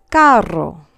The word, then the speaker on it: carro: But it's hard in a word like carro, which means car, because it's followed by an A. So we have cerdo, soft like an S, and k, hard, carro.